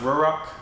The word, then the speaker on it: Ruroc: how you pronounce it I think it's officially pronounced roar Rock come in and by